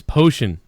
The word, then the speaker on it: Phocian: How do you pronounce that? His name is Potion.